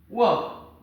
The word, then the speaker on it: walk: And this one is walk. The letter L in walk is silent.